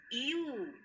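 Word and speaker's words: ewe: It is U, the female sheep. It is giving the sound of Y, so it is a U.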